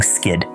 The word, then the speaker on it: SCID: immuno deficiency or SD pronouncing skid diseases like skid that are due to